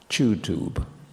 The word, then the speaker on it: YouTube: times a day YouTube YouTube is normally now pronounced in GB chew tube yes you YouTube YouTube YouTube